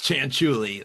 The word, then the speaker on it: Cianciulli: It's Cianciulli, like a chinchilla, or like it's spelled.